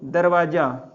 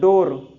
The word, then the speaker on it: door: फिर डोर, दरवाजा, डोर अगर एक होगा दरवाजा तो डोर, है ना, डोर, दूर नहीं डोर।